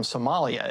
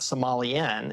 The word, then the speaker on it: Somali: What Have you seen the meme going around talking about how to pronounce the the designation of people from Somalia? It's apparently Somali, not Somalian.